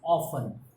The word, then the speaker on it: often: in orphans o f that we pronounce off then t is silent t t is silent